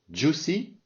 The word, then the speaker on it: juicy: Juicy, donc le I ici se prononce pas.